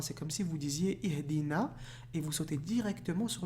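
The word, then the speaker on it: اهْدِنَا: Ensuite, Ihdina. I. Ici, vous vous rappelez le livre de liaison qu'on a vu? Ben ici, c'est I. D'accord? C'est pas Ahdina, c'est I. Ihdina. D'accord? Il se prononcera I.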